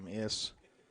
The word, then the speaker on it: Weems: I'm pronouncing that correctly. Weems.